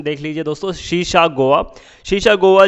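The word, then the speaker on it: Sesa Goa: अगर प्रोनाउंसिएशन देख लीजिए दोस्तों, शीशा गोवा।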